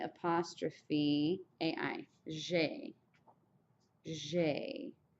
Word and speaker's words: j'ai: J'ai. J'ai. It's just like a blue jay bird almost, except for the J is a little softer.